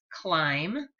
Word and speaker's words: climb: to goats some goats climb c l i m b remember the silent B trees or tall mountains